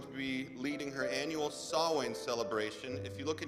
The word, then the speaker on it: Samhain: be leading her annual Samhain celebration. If you look in your handout, it's the thing that looks like it's spelled Sam Hain, but it's an Irish, it's a Gaelic word, it's pronounced Samhain.